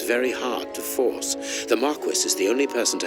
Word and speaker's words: Marquis: It's pronounced Marquis.